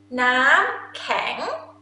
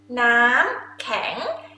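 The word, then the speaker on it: น้ำแข็ง: Nam kang. Nam kang. Nam is mean water. Kang is mean hard. Water hard. This is I, it makes sense, right? Because it's hard. Nam kang.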